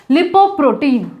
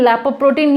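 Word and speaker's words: lipoprotein: अनेके बोलते हैं लैप्रोप्रोटीन, बहुत जगह ये वीडियोस में बोल रहे हैं लैप्रोप्रोटीन, लैपोप्रोटीन, ये सब नहीं होता है, ठीक है। जो इसका प्रॉपर प्रोनाउंसिएशन है वो है लिपोप्रोटीन, लिपोप्रोटीन, ठीक है।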